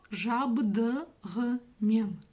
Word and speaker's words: жабдығымен: Буква «ы» читается очень и очень коротко, в отличие от русской версии. И как же научиться читать букву «г» с черточкой посередине? На самом деле тоже очень и очень просто. Нужно тоже откашляться через букву «г» или отхаркнуться. Жабдығымен.